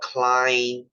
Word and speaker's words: Klinefelter: It's called Klinefelter. You know Klein? Klein as in GlaxoSmithKline, as in Calvin Klein.